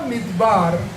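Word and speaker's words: מדבר: Pero en hebreo la palabra midbar se escribe con las letras mem, dalet, bet, resh.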